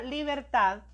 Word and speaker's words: libertad: es la palabra libertad la palabra libertad nos dice de que ésta su mayor fuerza en la última sílaba qué tipo de palabra